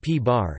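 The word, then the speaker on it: p̄: The antiproton, P, pronounced P-bar, is the antiparticle of the proton.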